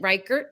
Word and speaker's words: Rikert: John Putch rhymes with Dutch. Dutch. And we have, and is it Rikert?